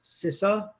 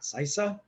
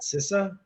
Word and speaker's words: CISA: and infrastructure security agency pronounced sissa not cisa but sissa previously i worked over